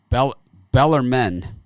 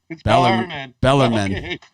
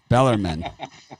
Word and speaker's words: Bellarmine: florida golf callist against bel bellermend okay so i was corrected on my pronunciation i see i seen that yeah i was like oh it's not mel harvey yes bellarmine bellarmine against florida gulf coast oh